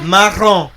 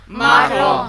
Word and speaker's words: marron: Marron. Marron. By now you must realize the impact of the letter R. It is very, very significant in French.